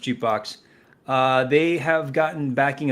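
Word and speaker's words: JKBX: the the startup jukebox JK BX is the um the acronym him J JK BX pronounced jbox uh they have gotten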